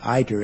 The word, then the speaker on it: ITER: we always pronounced it ITER. As you say, it means the way, the road, the journey. It's where we get the word itinerary.